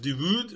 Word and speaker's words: de Voogd: I hope I'm pronouncing that correctly. It's V-O-O-G-D. I think it's pronounced de Voogd or de Voogd, something along those lines.